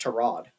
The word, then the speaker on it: Tyrod: reporter and was like apparently his name is pronounced to Rod. Um, Brandon, did you like heard that before? No, everyone at Virginia Tech calls him Tyrod.